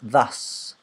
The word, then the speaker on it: thus: So it's pronounced thus. Thus. Oh, and again, it's TH as well, because again, this is a pronunciation problem that Brazilian people have, because it's not something that you use in Portuguese.